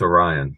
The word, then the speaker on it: Orion: do you say his first name I it's Orion okay so Orion kirkering has a 1.63 era